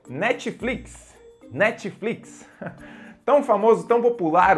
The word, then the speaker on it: Netflix: with me Netflix aê o t ele é um pouquinho né ele ele ele é bem Sutil né Netflix Netflix tipo a língua só dá uma relada no céu da boca Netflix E aí sai próxima rede